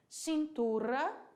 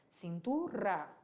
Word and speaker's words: cintura: Cintura, olha aí, é um R apenas, mas ele vai ser vibrado. Cintura.